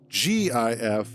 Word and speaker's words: GIF: too is that like I understand why people would say G if as GIF because G uh a soft G is used in George it's not Gorge it's George so I get why people might say it that way I need to raade